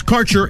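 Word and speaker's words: Kaercher: Quality cannabis Insurance Services is spelled k a e r c h e r that's carer insurance we have worked with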